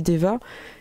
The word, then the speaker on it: Daeva: Donc, ça s'écrit D-A-E-V-A, mais on dit Deva.